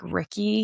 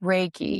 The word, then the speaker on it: Reiki: this stuff under the bus, but like like Ricky, I think that's how you say it. I don't know that. Or like energy work. Raiky. Reiki.